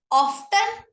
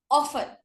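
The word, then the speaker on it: often: 18th number word, ऑफ्टन गलत word है, ऑफन, T silent रहता है, ऑफन।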